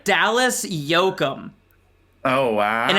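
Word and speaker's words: Yocum: Dallas Yoakum. Oh, wow. And it's spelled Y-O-C-U-M.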